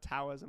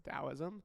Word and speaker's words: Taoism: Yeah, it's not Taoism, it's Taoism. Taoism. The Dow Jones.